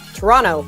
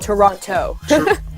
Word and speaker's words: Toronto: Actually, Torontonians don't pronounce it that way. It's Toronto, not Toronto.